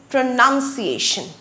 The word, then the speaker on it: pronunciation: It is pronunciation. Not pronunciation. The noun form is called pronunciation.